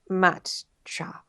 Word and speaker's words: matcha: Okay, matcha, pronounced matcha. I've probably been saying it wrong all this bloody broadcast.